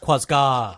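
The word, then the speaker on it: Quazgaa: It's actually pronounced Quasgar. Quasgar. Okay. No, Quasgar. Quasgar. No R. No R. There's no R.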